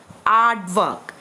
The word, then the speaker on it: aardvark: that lives in a burrow how do we pronounce it artwork a a r d v a r key